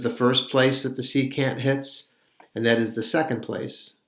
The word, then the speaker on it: secant: too is the word secant exterior or angles are formed sometimes by two secant's now the word secant almost sounds like the word second and that is because it